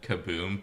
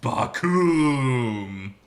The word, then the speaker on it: Bakoom: I almost said kaboom, but it's Bakoom!